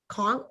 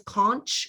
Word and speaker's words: conch: doing a product and conch i thought it was conch it's conch like a shell like it's not but